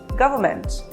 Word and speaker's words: government: Is it government or government? Well, it is pronounced as government. The letter N is silent here.